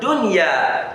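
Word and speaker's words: دنيا: That's what dunya. You see that Nun Sakinah is followed by ya. You will not say dunya. No. Dunya. You apply izhar. The Nun Sakinah is applied and is pronounced clearly.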